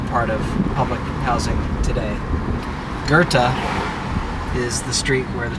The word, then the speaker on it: Goethe: Coming back up on the church, the street is Goethe, G-O-E-T-H-E. I believe I'm pronouncing it correctly because the CTA bus recording says Goethe. You'll hear some people say Goethe.